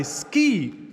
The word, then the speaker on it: Sce: This crazy guy, Sce. He pronounces his name like the C in Spanish.